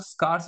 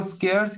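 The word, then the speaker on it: scarce: allocation and utilisation of स्कार्स resources देखो स्कर्स या स्कार्स इसको प्रोनाउंस कर कर सकते हैं इसका मतलब होता है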